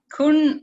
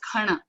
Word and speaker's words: Khana: Kun is what it is normally or popularly called. but it is the way it needs to be pronounced is khana.